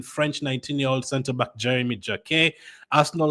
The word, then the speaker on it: Jacquet: I'm saying all of this in the French u the correct French pronunciation. I mean you can say Ren if you want. You can say Jaket if you want. It's Jeremy Jak and Renee until June 2029.